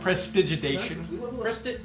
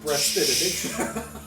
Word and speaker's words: prestidigitation: Prestigitation. No, it's Press- before. You Press- got this. Prestidigitation. A hush falls over the crowd. Prestidigitation. Prestidigitation. Did I say that right? It's close enough. Say it. Prestidigitation.